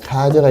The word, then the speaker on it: 가져: 가지다, 가지고, 가지어 했으니까 이하고 합쳐지면 여가 되니까 가져가 이렇게 되겠죠. 그러면 이중모음은 이중모음으로 발음해야 하는데 이게 예외잖아요. 다만이 예외니까 얘는 단모음만 발음해야 하니까 얘는 가져 이렇게 발음해야 하고요.